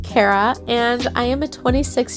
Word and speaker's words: Carrah: but not anytime recently my name is pronounced cara and i am a